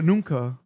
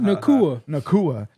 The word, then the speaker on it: Nacua: And also Puka Nunca, that's how you pronounce it, right? Nacua.